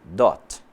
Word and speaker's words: dot: olhada aqui por exemplo o ponto em inglês quando estamos falando e mail ele é pronunciado como dote então vai ficar assim